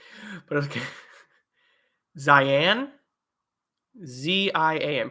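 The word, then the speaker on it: Zian: Zion, Z-I-A-N. Pronounce it like Zion.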